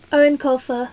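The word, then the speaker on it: Eoin Colfer: amazing Artemis Fowl by Erin Colfer that's how you pronounce his name it's an Irish name oh these are both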